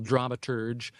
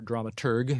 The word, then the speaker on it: dramaturg: like officially given the the title dramaturg or dramaturg as some people pronounce it but that's what he